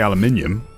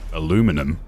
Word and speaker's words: aluminium: I say aluminium. America says it aluminum because they spell it differently.